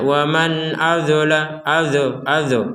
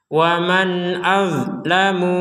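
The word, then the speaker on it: ومن أظلم: Jadi jangan dibaca waman azo. Jangan. Langsung saja mati dia itu. Kalau sudah mati jangan dihidupkan. Waman az itu mati. Nggak ada huruf nggak ada. Nggak ada pantulan juga sama sekali.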